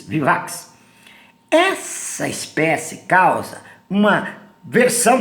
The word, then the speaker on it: vivax: erro de maria vivax não se pronuncia baby a x vivax essa espécie causa uma